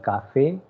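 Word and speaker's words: café: Ending with the letter E, so it is cafe, as there is an accent on the letter E, so it will be cafe, don't say cafe, it will be cafe, and then it will be tomate.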